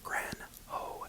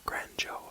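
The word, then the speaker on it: Granjo: I found that said Grand ho as in like the Spanish J how it turns into a h sound and um then there's also uh Grand Joe I'm not quite sure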